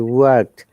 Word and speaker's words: worked: what i've heard that students are you know pronouncing like this work it no it does not work it worked okay by the one in british ipa r is silent in this word it is work in british ipa worked and worked and these sounds like tea all these words help